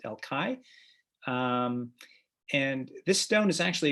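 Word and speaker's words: El Call: It's spelled C-A-L-L, but it's pronounced El Kai.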